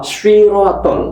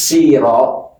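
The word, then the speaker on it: الصراط: Ihdinasir siraton. Ini ini ini banyak yang terjadi mengganti huruf syim. Apa ini? Kalau dibaca ihdinas sira berarti huruf sin. Sin itu sa sa si su.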